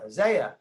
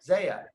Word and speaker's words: Zia: It's pronounced just like Isaiah, but with no I. So don't worry, I get it mispronounced all the time. Yeah. Zaya. Yeah. Zaya.